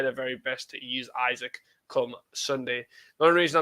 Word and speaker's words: Isak: have just signed Alexander Isak. Isaac, who knows? You'll have to let us know how to pronounce it properly. Sky Sports say it's Isak. Lots of people say Isaac.